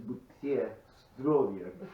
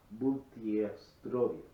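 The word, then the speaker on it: Будьте здоровы: Actually, it's Bustrovia. To you, Bustrovia. health. But Say it again. Bustrovia. Cheers. The whole thing. But if you actually broke it down and really forced the pronunciation, it would be Butiestrovia.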